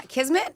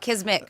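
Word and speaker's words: kismet: You know it's kismmit. Whatever. It's not a word. What does it mean? Yeah. Kismmet. Yeah. I didn't say that. You But you just you did say it right. It's a misspeak. You always call it kismick.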